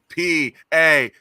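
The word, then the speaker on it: Paquetá: It's like they spell it fucking right. Do you know what I mean? Oh, for fuck's sake, please. P-A-Q-U-E-T-A.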